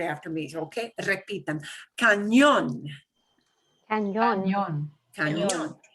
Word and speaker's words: cañón: And you'll notice there's an accent mark on the O in cañón. And when you see an accent mark, that means punch that syllable harder. Okay? Cañón. Cañón. Cañón, which sounds a lot like, canyon, right?